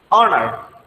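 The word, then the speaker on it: honor: অনার, এখানে কিন্তু হনার না, এটা হচ্ছে কি অনার।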